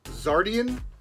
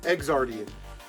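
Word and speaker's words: Xardion: Now I've heard this pronounced both ways. I've heard this game pronounced Zardian, because it starts with an X-A-R. But I've also heard it pronounced Exardian.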